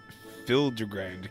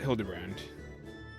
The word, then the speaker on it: Hildibrand: Since parting ways, I've searched every alley and dive bar in Everkeep for signs of this Fildder Grand character. It's pronounced Hildebrand.